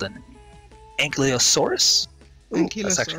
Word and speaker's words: Ankylosaurus: It is called an Ankylosaurus. Ooh, that's actually not the bad. Yeah, I actually nailed that pronunciation, surprisingly.